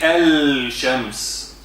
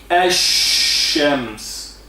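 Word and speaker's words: الشمس: So there is alif and lam, but we don't say al-Shams. No, we say Ash-Shams. Ash. Where is the lam? The lam is injected inside the sheen. The sheen swallowed the lam.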